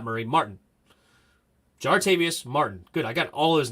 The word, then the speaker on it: Jartavius Martin: no jartavius Murray Quan Quan not Murray Martin jartavius Martin good I got all his name wrong zartavius Murray I just called him way off jartavius Martin